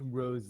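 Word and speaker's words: Rosé: Also, I believe you'll find it's pronounced Rose.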